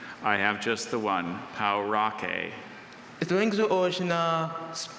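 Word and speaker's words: pauraque: Or is there any alternative pronunciations? I have just the one, Parikh. Is the language of origin American Spanish? It's from Spanish, yes. Say what again? Parikh. Parikh. P-A-U-R-A-Q-U-E. Parikh.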